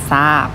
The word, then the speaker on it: ทราบ: ศาลา อ่าน ว่า เศรษฐี ต่อ ไป ทร ค่ะ ทร ออก เสียง ซ โซ่ นะ คะ ไฟล์ อ่าน ว่า ทราย ทราบ อ่าน ว่า ทราบ ทรุด โทรม อ่าน ว่า